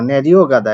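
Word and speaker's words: 내려가다: যদিও এটা ন্যারিও শব্দের সাথে যুক্ত হয়েছে যার কারণে গিয়ুকটা মাঝে পড়ে যাওয়ার কারণে এটা উচ্চারণ হচ্ছে গ। ন্যারিও গাদা।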